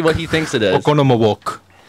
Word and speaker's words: Oconomowoc: Oconomowoc. That's the right way to say it.